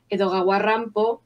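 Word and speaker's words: 江戸川乱歩: que se dice siempre edoga warrampo es la pronunciación en japonés del nombre Edgar Allan Poe estoy segura de que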